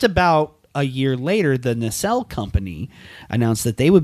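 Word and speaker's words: Nacelle: a year later, the NL company announced that they would be bringing the property back in both plastic. Are you mispronouncing Mattel? No. Nel. N A C E L L E.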